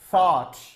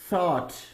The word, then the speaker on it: thought: Thought. Thought. See, in English language, whenever TH comes together, read it as, put your tongue out.